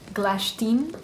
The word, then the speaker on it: Glashtyn: so i'm going to be talking about the clash team also a very uh odd name at least odd to me um but as i've heard in some youtube videos it's actually pronounced glash team yeah however there are that sounds yeah better